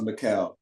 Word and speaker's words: Mikal: know like I'm Bridges so it's pronounced Michael like the eyes like kind of like an ace was like Mikel but um substitution Bridges